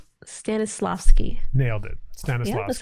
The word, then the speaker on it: Stanislavski: an interesting uh Constantine Stannis how did you pronounce it stanislavski stanislavski nailed it Stanis that's how you say it